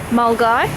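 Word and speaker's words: Milngavie: a little town called mul guy which is actually spelled mil gevy but that's a Scottish pronunciation for you so I guess good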